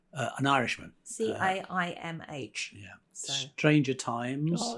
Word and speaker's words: Caimh: Is it Kem MacDonald? I think it's pronounced Kev. I'm not sure. An Irishman. Caimh.